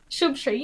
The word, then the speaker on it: Shubshri: Shubshri. Did I say it right? Shubshri, yeah, that's right.